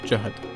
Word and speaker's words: Zahard: hard avec un z même si ça se prononce carey c'est sur lui même qui l'a confirmé dans